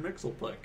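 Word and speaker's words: Mxyzptlk: Well, they pronounce it on the Super Friends. They always call him Mr. Mixelplick.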